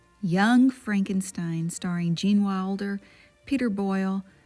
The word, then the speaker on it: Frankenstein: That's Frankenstein. I beg your pardon? My name. It's pronounced Frankenstein.